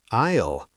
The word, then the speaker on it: aisle: No, it sounds exactly like aisle. 1 syllable. The S is completely silent.